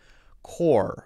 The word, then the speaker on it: core: stays there cool cool if you use r if you want to use r your tongue never touches the roof of your mouth core for example c-o-r-e okay so he's maybe having